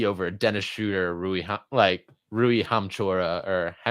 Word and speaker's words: Hachimura: me a KCP over a Dennis Schroeder, Rui Hachimura, or how do you say that?